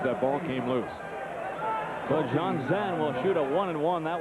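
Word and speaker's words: Jonzen: And a little discrepancy on how to pronounce his last name, but he tells Bill Tegans, the Cowboys radio voice, that he pronounces it John Zen.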